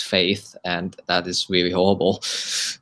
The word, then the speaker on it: F8: oculus chat had its f8 conference which is supposed to pronounce faith and that is really